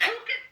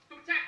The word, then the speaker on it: Phuket: Phuket, Thailand? It's pronounced Phuket. Phuket, Thailand.